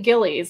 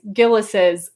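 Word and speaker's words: Gilles: to point out that there's a controversy about how to pronounce gillison i only learned myself recently when i when i first visited i called it gillies and that is wrong it's gillis's with an apostrophe at the end right and they train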